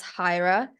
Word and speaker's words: Khai: name is pronounced as hyra it's the K is silent it looks a bit